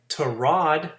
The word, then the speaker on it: Tyrod: And Tyrod, which is how you pronounce that, Taylor, put Flying Spaghetti Monsters in a giant hole Thursday night for them to work out of.